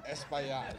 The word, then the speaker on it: Espaillat: And as Al Taylor has taught me, if you can pronounce Esplanade, you can pronounce Espaillat.